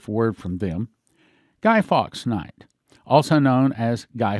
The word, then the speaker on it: Fawkes: spell it to you guy fox is the name of a person spelling last name f-a-w-k-e-s not f-o-x but f-a-w